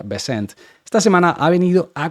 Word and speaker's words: Bessent: Esto está muy controladito y el señor Bessent, porque mucha gente dice Bessent, pero en realidad se pronuncia Bessent, esta semana ha venido